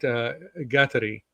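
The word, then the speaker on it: Kateri: made him think of now Saint Gattari, which is how the Mohawks pronounce it.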